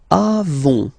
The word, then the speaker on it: avons: Then nous avons, final s not pronounced, avons, okay, and then